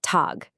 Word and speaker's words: Tag: Same thing for g at the end of a word. It sounds like a k. The word for day is pronounced tagg.